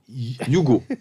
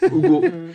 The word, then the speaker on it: Ugo: Oh, Ugo. Yugo. It's like Nigerian name. Ugo.